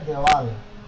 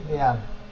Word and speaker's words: দেয়াল: একটি দেয়াল, অনেকে বলে থাকে দেওয়াল, দেওয়াল উচ্চারণটা ভুল, একটি দেয়াল।